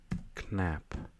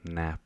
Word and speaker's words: knap: K hotspot here so something like knap or nap I think it's a silent k that would be a